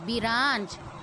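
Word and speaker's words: branch: Clock में C की first sound जो थी वो हाफ आई थी, लेकिन ब्रांच में R है, उसकी हाफ साउंड आई है.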